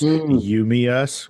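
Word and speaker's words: UMEUS: Everyday Exotic, which is You, Me, Us, which listeners, it's spelled U-M-E-U-S.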